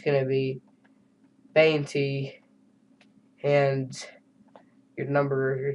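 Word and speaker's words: veinte: If a V starts a word, then it sounds like a B.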